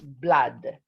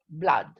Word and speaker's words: blood: blood blood all right be careful because it's not blood it's blood like an ah blood okay okay blood okay